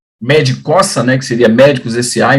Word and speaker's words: medcossa: A gente tem o nosso Instagram @ medcossa, né, que seria médicos SA. Então a pronúncia é médico porque fica os dois SS.